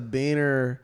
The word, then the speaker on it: biner: Like I left a beaner at the gym. It's like, wait, what? Dude, that's what they call them. BINER, not the other one. That's how it's spelled.